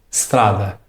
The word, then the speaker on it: strada: Você deve soltar o som da letra S diretamente. Strada.